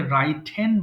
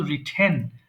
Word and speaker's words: written: একটা common mistake আছে এটা অনেক সময় অনেকে রাইট হেন বলে বাট সঠিক উচ্চারণ কিন্তু রিটেন রাইট হেন নয় এরপর রিপ্লাই উত্তর দেওয়া